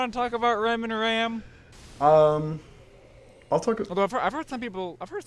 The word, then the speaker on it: Ram: and then there's the two maids Bren and RAM here we go you talk about you want to talk about RAM and RAM I've heard some people first time people pronounce her name is ROM ROM no in the dub it's RAM they